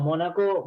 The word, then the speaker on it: Mónaco: Porque los datos pueden sufrir desde, supónganse, voy a un caso concreto, mi nombre es Mónaco, Mónaco lleva acento en la primera O.